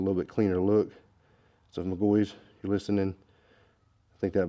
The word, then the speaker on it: McGaughys: symbols or it's just MGO very simple so if you have a question about that that is that is how you say it so I'll show you